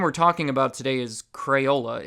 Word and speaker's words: Crayola: way it's basically going through the word in pronouncing every letter and plus the brand we're talking about today is Crayola it's not Corolla Corolla though I guess that's weirdly not where